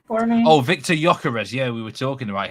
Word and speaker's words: Gyökeres: So with the Victor, pronounce his name for me. Oh, Victor Gyökeres.